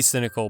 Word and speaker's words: cinnacal: of my videos anyway I may be cinnacal (pronounced like "cynical") but I wish you